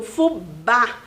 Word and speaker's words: fubá: letrinha B e a letrinha A com acento, porque o fubá, o A é bem forte a pronúncia dessa sílaba.